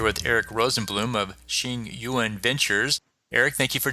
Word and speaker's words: Tsingyuan: Today we're here with Eric Rosen Bloom of Shing Yuan Ventures. Eric, thank you for joining us. Thanks for having me. And you pronounced it perfectly.